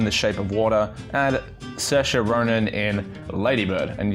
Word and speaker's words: Saoirse: Sally Hawkins in the shape of water and Saoirse Ronan in Lady Bird and yes that is